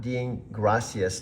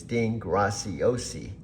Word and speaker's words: Dean Graciosi: Dean gracias with the Italian pronunciation not the Spanish muchas gracias.